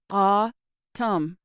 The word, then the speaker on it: autumn: For example, take the word autumn. Ah-tum. That's two vowel sounds, so it's two syllables, even though autumn has three vowel letters, A, U, and U.